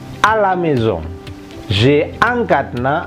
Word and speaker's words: cadenas: Ini dibaca cadenas karena kombinasi CA itu berbunyi yang K ya, bukannya S. Oke. Kemudian hati-hati, kombinasi EN itu biasanya berbunyi ong menurut teori de prononciation, tapi tidak dibunyikan karena terpisah oleh penggalan. Cadenas. Sedangkan S di ujung itu tidak dibunyikan. Hanya kita tulis saja.